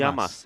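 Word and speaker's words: γειά μας: you say cheers in here in Cyprus yam yamas all right Charlie yamas yamas and uh let's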